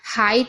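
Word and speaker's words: height: और जी H silent रहता है, कहीं भी जी एच टी साथ में होगा तो जी एच साइलेंट रहेगा, यानी कि उसको नहीं पढ़ा जाएगा। तो आप अगर यहाँ पर कंफ्यूज हैं कि भाई यहाँ पर जी एच को क्यों नहीं पढ़ रहे हैं, तो इसीलिए नहीं पढ़े क्योंकि जी एच टी तीनों साथ में है, तो जी एच साइलेंट रहता है।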